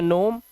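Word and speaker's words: gnome: इसे पढ़ते हैं नोम।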